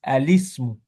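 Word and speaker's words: الاسم: Ici, sauf qu'on va être le alif, on va le prononcer en lemme. On va dire alice, alismu, comme si c'était un lemme.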